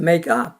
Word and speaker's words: make up: 그래서 make 강조하고 up 강조하지만 이 둘이 이렇게 수식관계를 이룰 때 더 강한 강세가 up에 있어요. 동사보다는 부사에. 그래서 make up.